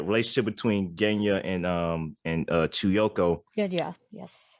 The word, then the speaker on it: Genya: Genya, yes. Say it again. No, I just realized I mispronounced his name. Genya, you're right.